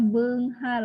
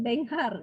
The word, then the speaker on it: beunghar: Jadi bacana beunghar, lainnya jadi beunghar, lain benghar nya, lain sanesnya.